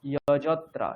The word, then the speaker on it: যজত্রাঃ: ই অ বলবেন, ই আর অ, যজত্রা, এটা বলবেন। বলুন আবার, আমি শুনে বলুন। ভদ্রং পশ্যেমাক্ষভির্যজত্রাः। ভদ্রং ভির্যজত্রা, কি বলবেন? যজত্রা নয়, যজত্রা। ইজত্রা নয়, যজত্রা। দেখুন, এইটা উচ্চারণ করুন, হ্রস্বই, তারপরে অ, তারপরে বর্গীয় জ, তারপরে তয় রফলা আকার।